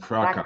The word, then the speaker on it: fraca: so weak, you know, frasca, no, not frasca, how to say it's Portuguese, franquinho, you know, fraca, fraca, fraca, see, fraca.